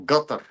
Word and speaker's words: Qatar: It's Qatar or Qatar. or gutter, depending on which part of that the Middle East you come from. But it's very guttural.